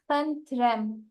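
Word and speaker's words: խնդրեմ: You can say Khantrem. May you repeat? Khantrem. Kandrem. Khantrem. Kandrem. I'm not getting well the pronunciation.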